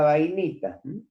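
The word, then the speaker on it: bainita: tratamientos térmicos, es la vainita. Vainita, tal cual se pronuncia. Con B larga.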